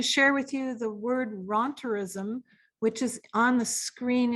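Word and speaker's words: rentierism: just wanted to share with you the word ronterism which is on the screen in her powerpoint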